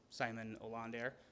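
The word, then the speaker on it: Simon Ålander: that people were posting, like Simon Olander. That's how you pronounce it. Look that shit up. I asked him. Pronounced it wrong forever.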